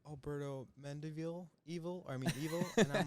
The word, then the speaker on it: Mendivil: too at home if you're not already bert mendeville i hope i pronounced your last name right no you did